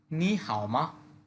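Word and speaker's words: 你好吗: লিনা বলতেছে লুইফিং মানে লুইফিং নি হাওমা নি হাওমা দুইটা থার্ড এজন্য প্রথম টোনটাকে সেকেন্ড টোনে ধরে বলতে হবে। আমরা টোনের রুলসে দেখেছি এটা। নি হাওমা আপনি ভালো আছেন কি?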